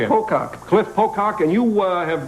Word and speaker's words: Pocock: Pocock.